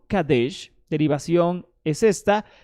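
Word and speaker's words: קָדֵשׁ: Y entonces vemos qué significa Kadesh en diccionario Strong hebreo, 6945 Kadesh del diccionario hebreo Strong, y dice, pronunciación Kadesh, derivación es esta, y definición es la siguiente.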